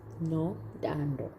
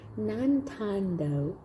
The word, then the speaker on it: Nontando: So this side, my name is pronounced as Nontando. Now Miss Crystal used to say Nontando, and I always felt so cute when she said that.